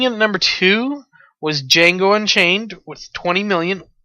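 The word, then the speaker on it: Django: Jango Unchained yes D Jango unchain D is silent go see it if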